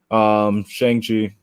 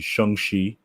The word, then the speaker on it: Shang-Chi: From what I know, comic book wise, is Shang-Chi. Oh, I'm saying it wrong. It's supposed to be Shang-Chi.